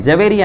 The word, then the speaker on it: جویریہ: کا نام ہے جویریہ۔ بہت سے لوگ یہ نام رکھتے ہیں لیکن اس کی اسپیلنگ صحیح نہیں، بہت سے جویریہ بول دیتے ہیں، جویریہ نہیں ہے، صحیح تلفظ اس کا جویریہ ہے۔ اور جویریہ کے معنی